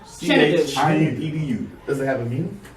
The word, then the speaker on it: Chinedu: And you pronounce it Chinedu. Chinedu.